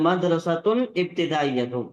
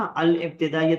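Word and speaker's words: المدرسة الابتدائية: अल मदरसतुल इब्तिदाइयत, ये ता को सीधा यहाँ पर नाम से मिला देंगे। मदरसतुल इब्तिदाइयत है ना, अल इब्तिदाइयत नहीं पढ़ेंगे, ये अल है तो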